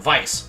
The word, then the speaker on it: Weiss: We almost have another Ruby situation on our hands, like with how Weiss's name is supposed to be pronounced Weiss, like the German word for white.